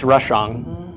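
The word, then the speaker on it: רשע: Yeah, no, it's rashang. Yeah, I'm pronouncing the ang of the ayin.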